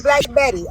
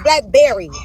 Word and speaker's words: Blackberry: He said I called her Black Betty. Okay, her name is Blackberry. I mispronounced her name.